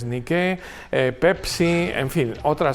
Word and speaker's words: Nike: Chanel de bogue hizo anuncios de nicke Nike no pronunciado norteamericano pero como saben es una palabra griega que significa Victoria y que es nicke eh Pepsi en fin